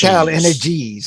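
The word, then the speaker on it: TotalEnergies: I think they added an S to the end of it, though. It's Energies. Total Energies.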